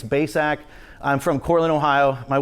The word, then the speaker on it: Bacak: share with you just here's how you say my name it's baysack i'm from cortland ohio